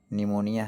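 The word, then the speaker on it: pneumonia: जैसे कि निमोनिया है। पी से शुरू होता है। पीए यू यह आपका पी साइलेंट है।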